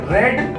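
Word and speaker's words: read: तो इसी तरीके से तुम गणित किताब पढ़े तो क्या हो जाएगा, यू रेड मैथ बुक।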